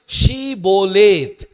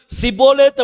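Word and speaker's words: שבולת: சொல்லுவாங்க என்ன வார்த்தை அப்படின்னா ஷீபோலேத் அப்படிங்கிற வார்த்தை சொல்லுங்கன்னு சொல்லுவாங்க எப்ராயிம் கோத்திரத்துக்கு ஷே அப்படிங்கிற உச்சரிப்பு வராது அதனால அவங்க என்ன சொல்லுவாங்கன்னா சிபோலேத் அப்படின்னு சொல்லுவாங்க ஷீபோலேத்ன்னு சொல்ல மாட்டாங்க சிபோலேத் சொல்லுவாங்க சிபோலேத்ன்னு சொல்லியாச்சுன்னா அதுக்கு பிறகு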